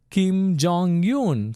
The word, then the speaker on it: Kim Jong Un: So it's in the beginning, so you don't pronounce it. Yoon, yoon. Kim Jong Un.